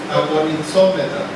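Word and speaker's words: ἀγωνιζόμεθα: Y cuando habla de sufrimos oprobios, es una palabra griega que se pronuncia agonizómeta.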